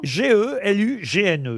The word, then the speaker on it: Gelugne: Comment ça s'écrit, ça G-E-L-U-G-N-E, C'est Gelugne.